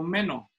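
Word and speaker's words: μένω: Ahora, ustedes han de saber que en el idioma original el verbo morar es el verbo meno, así se pronuncia, les muestro.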